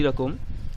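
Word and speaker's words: ر: র এর উচ্চারণটি বাংলায় একটি র দিলে যেমন উচ্চারণ হয় তেমন র, আর এটি ঝা।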